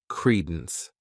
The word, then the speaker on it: credence: This word has 2 syllables, and the stress is on that first syllable, credence.